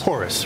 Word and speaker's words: Horus: Horus, right.